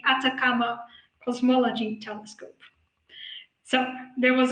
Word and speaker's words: Atacama: acronym it's act so i naturally say akatama but it's actually the atacama cosmology telescope so there